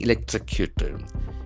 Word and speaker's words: electrocute: Farmer dies after being electrocuted. E-L-E-C-T-R-O-C-U-T-E. So that is a very important verb. Electrocute. Electrocute. We have four syllables and the accent for second syllable.